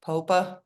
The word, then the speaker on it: Popa: Senior Lecturer Amy Jo Popa from, did I pronounce that correctly, Amy? It's Popa.